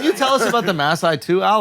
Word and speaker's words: Maasai: pronounced Maasai.